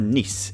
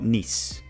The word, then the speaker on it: Nice: their 3-2 win over Nice. And I think that's how you pronounce it. I think it's Nice, even though you spell it as nice.